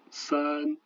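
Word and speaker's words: 三: Le S, comme en français, par exemple ici 3, san.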